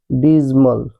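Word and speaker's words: dismal: इसका right pronunciation है डिजिमल।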